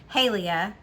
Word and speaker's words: Halia: Okay, so we're following Halia is how they say it. And I know that because I was like, it's Haley with a at the end.